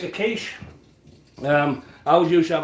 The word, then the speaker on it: quiche: And uh it is pronounced kiche, okay? Not quickie.